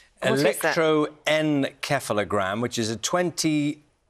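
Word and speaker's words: electroencephalogram: use something called an electro keogram what is that actually I think I've missed out a syllable electroen keogram which is a 20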